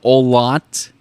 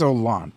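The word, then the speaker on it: Olandt: can't pronounce it no the way I'd say that's put an emphasis on the D and then the t a weird last name sorry yeah and and uh I think it's aant like you said aant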